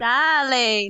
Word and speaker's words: Dali: Now I get it. Dali, not Dolly. The village of Dali.